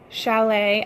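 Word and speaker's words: challis: mine Texas accent so rayon Chalet I think SH a ll I s yes if something has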